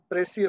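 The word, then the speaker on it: precis: there are questions on pressy writing so p r e c i s the pronunciation is pressy but pressy writing is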